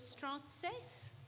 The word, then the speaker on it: Stratsafe: Nona nona sorry gana director of Iene this is strat safe am I pronouncing it correctly strat safe okay welcome Good afternoon everyone.